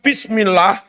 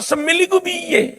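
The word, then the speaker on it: بسم الله: Sekarang, kesalahan dalam membaca "bismillah": "ba" dengan kasrah menjadi "bi", ditambah "sin" yang tidak dibaca menjadi "bis". Seharusnya "bismillah", seharusnya "bismillah", tetapi sebagian imam membacanya " Allahu Akbar bismillahirrahmanirrahim semilahu". Akbar, "bismillah" menjadi " semil", bagaimana bisa begitu?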